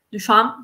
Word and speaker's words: Duchamp: Duchamp, perché la P non si legge.